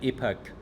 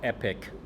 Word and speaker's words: epoch: Okay, so iteration means one update, one parameter update and epoch uh or epic depends on how you want to pronounce it.